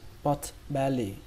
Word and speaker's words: pot-bellied: đọc lái sport barry pot-bellied cách đọc nhanh for Very good Very Ừ từ này trọng âm của nó rơi vào ông đầu tiên âm mẩn màn 3